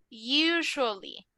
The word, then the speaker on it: usually: ¿Se acuerdan de cómo pronunciamos Russia? Hagan de cuenta que esto es igual. No me vayan a decir usually. Usually. Lo vamos a pronunciar como una sh.